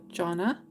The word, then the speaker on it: Jonna: it my name is proun like John with a short a sound at the end so Jonna hopefully I got that